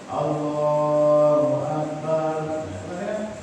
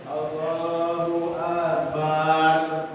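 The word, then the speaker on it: الله أكبر: Takbiratul ihram enggak boleh manjangin alifnya Allah, enggak boleh.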